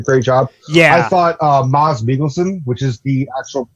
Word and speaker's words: Mads Mikkelsen: I thought Mads Mikkelsen, which is the actual pronunciation, it's not Mads Mikkelsen, it's Mads Mikkelsen.